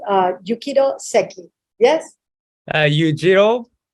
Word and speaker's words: Yujiro: But in Spanish, people say Yujiro. So whichever you prefer. Oh, but I like to say, how do you say Yujiro? Yeah, Yujiro is a Spanish, right? Spanish version, because J is a Jota, so that's why Yujiro.